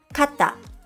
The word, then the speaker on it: かた: Recognizing and pronouncing double consonants correctly is important because it can completely change the meaning of a word.For example, kata means shoulder, while katta means one.